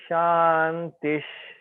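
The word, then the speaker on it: शान्तिः: Visarga, when Visarga is followed by sh, like Om Shantish, then Visarga we will pronounce as sh. Okay.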